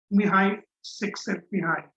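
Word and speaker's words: Mihaly Csikszentmihalyi: difficult name to pronounce, but it's pronounced as Mihai Csikszentmihalyi. That's how you pronounce the name.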